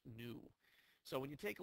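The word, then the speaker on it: ν: like that that stands for frequency and it's pronounced new so when you take a look at the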